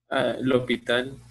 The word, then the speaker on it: L'Hôpital: Regla de, ¿cómo se pronuncia este? L'Hôpital.